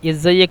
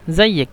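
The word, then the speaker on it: إزيك: ইজাইয়েক না বললেও সমস্যা নেই, কিছু কিছু ক্ষেত্রে ওরা বলে ইজাইয়েক আমেল এ। এই যে আলিফ, এই আলিফটা উচ্চারণ করে না, বলে জাইয়েক আমেল এ।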